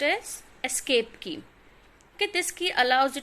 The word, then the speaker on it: ESC: It is pronounced as escape key.